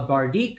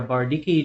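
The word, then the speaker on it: bardiche: A bardique or a bardiki, depending on how you want to pronounce it.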